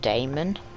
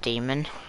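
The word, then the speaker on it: daemon: a part of it i hate that they sound out the a in damon it's just pronounced demon yeah it probably is isn't it i'm pretty sure it's a greek word anyway whoa goose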